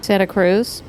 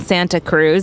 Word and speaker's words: Santa Cruz: But for the first several months, I was saying Santa Cruz, and everyone would start laughing and laughing and laughing because I had a hard T on Santa Cruz.